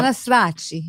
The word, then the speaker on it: Cannistraci: however, you also have an Italian way of pronouncing it, which sounds wonderful. Yes. How- Cannistraci.